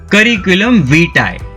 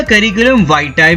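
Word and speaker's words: curriculum vitae: सीवी के full form पे अगर आए तो उसे कहते हैं करिकुलम विटाe। करिकुलम विटाe या करिकुलम वाइटाe भी कुछ लोग कहते हैं, बट कॉमन प्रोनाउंसिएशन है करिकुलम विटाe।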